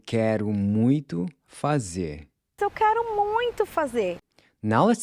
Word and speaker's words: muito: want to do something… “muito”… “mui-to”. “**muito**”. Notice again how the “o” is pronounced like a /u/, and when you pronounce the /t/, there should be no puff of air coming out… “muito”.